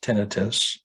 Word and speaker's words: tinnitus: Tinnitus, which is the correct pronunciation of ringing in the ears, tinnitus.